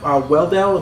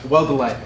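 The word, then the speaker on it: Weldele: And the artist was Brett Weldell. Am I pronouncing it? Weldelay.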